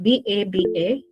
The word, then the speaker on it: baba: There is this word, but yeah, I don't know how you pronounce it, but it's B-A-B-A.